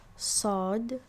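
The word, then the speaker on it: ص: bit difficult right um it's sod it's like the s sound but it's a bit more intense um what helps is to kind of do a fake yawn right like huh right and then create this space in the back of your throat and then try and pronounce the sa or sa sound right and then that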